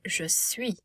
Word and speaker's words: je suis: So we would pronounce être, to be, but we will say je suis. Remember, I will make a oui sound, and we do not